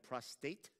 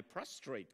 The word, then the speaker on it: prostate: comes to medical terms people tend to mix up very often prostate and prostrate so very often I was asked how my prostrate cancer was and being